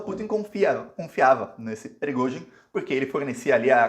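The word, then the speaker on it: Пригожин: O dono desse grupo se chama Prigozhin. Prigozhin é a pronúncia do sobrenome dele em russo. Não sei como é que a mídia está chamando ele no Brasil, mas em russo é Prigozhin.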